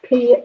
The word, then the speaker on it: Pinier: it's French. It's Pinier. Pinier.